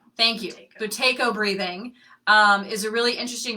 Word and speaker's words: Buteyko: Now, I don't exactly know how to pronounce this. Buteyko. Thank you. Buteyko breathing is a really interesting breathing that requires you to close one side of your nose.